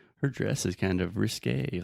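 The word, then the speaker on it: risqué: Risque. Risque. Risque is like, ooh, her dress is kind of risque, like a little scandalous.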